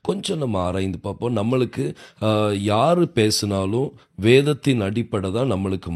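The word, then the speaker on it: יה: முதல் 2 எழுத்து யோத் ஹே, இந்த 2 எழுத்தை நீங்கள் இணைச்சிங்கன்னா அதை உச்சரிக்கும் போது யா அப்படின்னு சொல்லி உச்சரிப்பாங்க.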